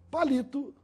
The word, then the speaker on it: palito: portanto é uma proparoxítona a palavra palito tem a sílaba mais forte na penúltima sílaba no li portanto é uma palavra paroxítona e a palavra palitó